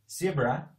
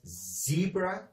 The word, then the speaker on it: zebra: then we have zebra zebra which is a little bit different the pronunciation is a little bit different in British English and American English they call it zebra or zebra so zebra is the